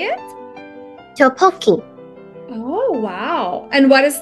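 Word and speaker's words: 떡볶이: Tteokbokki.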